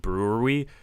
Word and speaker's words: brewery: I was telling Gabe about it, and he was saying, just think of the Milwaukee Brewers, and then add an E to the end.